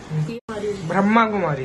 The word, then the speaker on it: ब्रह्मा कुमारी: ना, हट जा मैं, ये सब अपने अपनी तरह प्रोनाउंस करते हैं, हट जा बाहर हो जाओ। अच्छा ठीक है प्रोनाउंस करो। प्रोनाउंसिएशन सबकी अलग होती है, मैं ब्रह्म कुमारी बोलती हूँ।